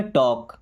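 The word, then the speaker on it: talk: टी ए एल के। यहां पे एल हो गया साइलेंट। पढ़ते है टॉक मींस बात करो टू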